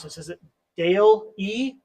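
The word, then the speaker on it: DALL-E: one of you guys know how do you pronounce this is it Dale e d e Dolly I yeah okay I I was contemplating that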